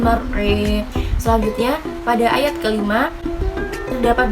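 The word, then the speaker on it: الْمَرْعَىٰ: kedua pada akhir ayatnya pada bacaan mar'a, di situ terdapat imalah sehingga cara membacanya menjadi walladzi akhrajal mar'a.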